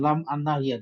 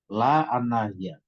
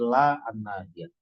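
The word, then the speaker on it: لا الناهية: Bukan lam an-nahiyah, tidak boleh. La an-nahiyah. Karena kalau huruf itu lebih dari satu, maka dibaca seperti membaca pada umumnya. Itu kan lam alif ya, jadi bacanya lam. Jadi jangan lam an-nahiyah, tapi la an-nahiyah.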